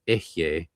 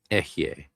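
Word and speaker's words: Eheieh: It is Ehye and Agla traditionally in the GD. Ehye, Agla.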